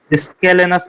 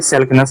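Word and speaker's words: scalenus: Anterior स्केलेनस muscles होती है, सैलकेनस नहीं स्केलेनस, सॉरी स्पेलिंग में गड़बड़ी हो गई थी।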